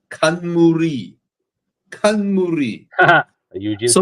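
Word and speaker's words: 冠: It came from the word crown, pronounced in Japanese.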